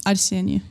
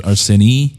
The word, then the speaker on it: Arai: Yeah, it's just it's uh kind of hard for Americans to pronounce because there's the e at the end and they kind of cannot do that. So it becomes areni areni.